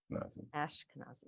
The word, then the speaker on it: Ashkenazi: um okay I need to learn how to pronounce uh your name Ashkenazi yes okay uh I used to be teased